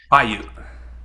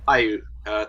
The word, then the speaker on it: Paiute: So wanted to ask, so you come from the Walker River Paiute, I believe that's how I pronounce it. Paiute. Paiute, thank you.